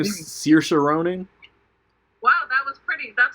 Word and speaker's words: Saoirse Ronan: Saoirse Ronan.